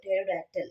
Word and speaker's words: pterodactyl: So next one, P is silent before T.